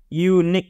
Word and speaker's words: unique: Unique itu kan bacanya pakai Y kan? Consonant kan? Maka karena bunyinya Y, ya, suara pertama unique, Y.